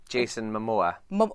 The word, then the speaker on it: Jason Momoa: Jason Momoa. So it's just like it looks.